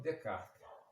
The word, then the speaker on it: Descartes: Em francês não se pronuncia o S final não se pronuncia. Então, quando fazemos a justaposição dessas duas palavras, Descartes, fica o nome próprio Descartes, né, que seria Descartes, né?